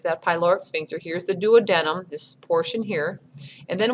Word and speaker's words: duodenum: It's called the duodenum. That's how that's pronounced. Some people say duodenum, and that's not correct. It's duodenum is how we say that.